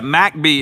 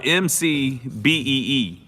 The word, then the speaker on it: McBee: Yeah, McBee is spelled McBee. So anybody else would call it McBee.